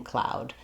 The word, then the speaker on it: cloud: I typically use OW to spell ow, but because OW can also say O like snow or no, it can be a little confusing. So center in on whatever is going to help you saying that ow when you're saying cloud.